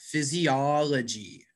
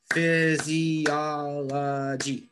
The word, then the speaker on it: physiology: to try this one which uh which syllable was stressed physiology i think is a second physiology does someone want to help danila this is a hard one maybe o physiology yeah yeah it's actually the third syllable gets the stress